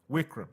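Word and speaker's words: Vikram: I know you're very good at pronouncing it. Wikram.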